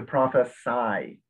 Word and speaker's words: prophesy: noun is prophecy but the verb is to prophesy all right remember english is is irregular words